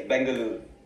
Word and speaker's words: Bengaluru: Bengaluru Poetry Festival, pronounced that correctly? Yes, Bengaluru. Yes. You Bengaluru.